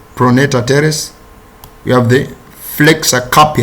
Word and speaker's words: pronator teres: is the origin of these muscles we have planetary teres pronounced pronator teres we have the flexor carpi radialis flexor capillary